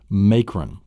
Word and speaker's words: macron: Then you have the fifth one is called the macron. And the macron is the horizontal line. You have it actually in the word macron, M-A-C-R-O-N, may. It's the long A sound.